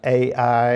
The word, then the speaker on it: Ai: from jericho to i sometimes that's pronounced a i i think the correct pronunciation according to my hebrew professor is i which is near beethoven